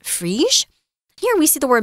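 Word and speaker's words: Phryges: I'm trying my best to do my French reading. So this word should be pronounced Frige.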